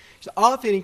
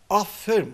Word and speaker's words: aferin: de bilirsiniz bakıp mesela Aferin kelimesinde çok büyük bir sıkıntımız var var toplumdan ediyorlar Afferim oğluma Aferin diyor aynı ama Affedersiniz iki